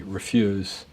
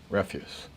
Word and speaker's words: refuse: that poem would be refuse refuse this is funny because the spell the same pronounced differently so it's eliminate the concept